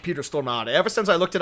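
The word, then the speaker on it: Stormare: mind it sounds like it only minds when people call him Peter stor Marie which which he said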